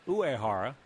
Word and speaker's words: Uehara: Koji Uehara, although I've also heard it pronounced Uehara.